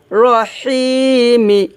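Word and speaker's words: رحيم: তাহলে এখানে আমরা তিন আলিফ টান দিব। বিসমিল্লাহির রাহমানির রাহিম। এখানে আমরা তিন আলিফ টান দিয়ে তারপর মিমকে ধরবে।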